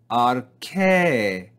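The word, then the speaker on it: ἀρχῇ: The first syllable is ar, and notice the soft breathing mark, ar, and the second syllable is ke, ke. But because we see this circumflex accent, we're going to read it as ke, ke, ke. We're going to rise and fall on that syllable.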